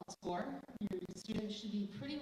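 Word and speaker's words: SCOIR: and application process is through score that is spelled SC iir like the European version of score so you want to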